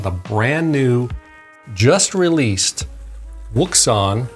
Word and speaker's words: Wouxun: brand new just released wukson pronounced ocean kg 1000g gmrs 50